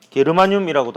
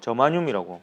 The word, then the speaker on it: 저마늄: 그리고 GE 게르마늄이라고도 하고요. 요즘은 이제 영어식 발음을 주로 써요. 저마늄이라고 많이 합니다.